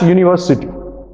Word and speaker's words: university: Because when you pronounce the word university, it has a sound of Y-O-U, university, Y-O-U, and Y becomes a consonant.